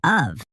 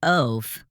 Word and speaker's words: of: Today's heart word is of. It may look easy, but it doesn't follow the sounded out rules. Yeah, I tried to say it like oaf.